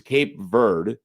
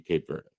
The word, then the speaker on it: Cape Verde: that I saw is Cape Verde like there's no e for the pronunciation at the end of it but it seems like it should be Cape Verde and so and then